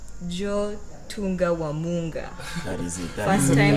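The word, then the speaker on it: Djo Tunda wa Munga: Joe Tunga Wamunga. That is it. First time and last time I'm saying it. by the way, the D is silent.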